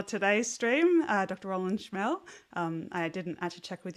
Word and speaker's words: Schmehl: special guest for today's stream uh Dr Roland schmel I didn't actually check with you about pronunciation of your last name so I forgot